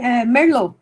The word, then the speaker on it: Merlot: Tem o Merlot, é igual se escreve ali, Merlot, igual se escreve para o vinho, né?